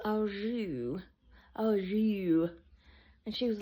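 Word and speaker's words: au jus: going to have the French dip with the all just and she said it's not pronounced all just it's French it's all o and she was like well it's spelled all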